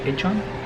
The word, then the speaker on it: Incheon: our hotel from the airport The name is pronounced as - INCHEON Let me introduce with the gentleman who is